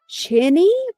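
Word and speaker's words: Qinni: I think her name is pronounced Chinny, but it's pronounced like Quinny.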